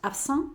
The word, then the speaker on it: absent: Si fuera un chico, diríamos absent y la T final no la pronunciamos, pero al meter la E, ya la T no es la última de la palabra, ¿vale?